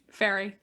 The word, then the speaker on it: Fari: How is that pronounced? Fairy.